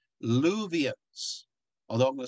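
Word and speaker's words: Luwians: what they are called what yeah they're called luvians although i'm gonna spell it this way l u w i i-a-n-s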